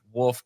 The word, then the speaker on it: Wohlfort: It's pronounced Wolf, right? And I was like, yes, it actually is.